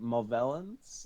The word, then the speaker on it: Movellans: Is it Movellans? The Movellans, yeah. Yeah, you got it Yeah.